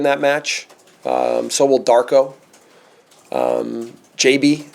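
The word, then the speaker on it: Gyabi: JB. I learned you pronounce his name JB. JB.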